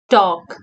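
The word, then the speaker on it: talk: के स्पीक उड़ा गर्नु टॉक टी ए एल के टॉक इस्मा पनी L silent T ए एल के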